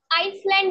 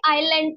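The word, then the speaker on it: island: group of आईलैंड clear इसे हम आइसलैंड नहीं पढ़ेंगे आईलैंड पढ़ते हैं आई यहां पर साइलेंट है ग्रुप ऑफ आइलैंड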